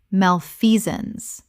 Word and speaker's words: malfeasance: Malfeasance. 3 syllables with the stress on the second. The sance collapses to zuns.